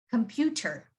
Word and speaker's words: computer: be either or but when a t is surrounded by a vowel or a the letter y it makes a d sound for example the first one c-o-m-p-u-t-e-r usually pronounce this as computer computer but in american accent you would say it as computer computer you see that descent